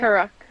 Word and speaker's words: Karuk: Reed and the Karuk, is that, am I pronouncing it right? Karuk, yeah, Karuk.